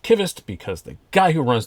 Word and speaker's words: Qvist: kittist blade works and i do know it's pronounced kivist because the guy who runs the place jacob lonquista sent a letter along with this prototype that said at the bottom it's pronounced kivist so i've always said cuvist but i've been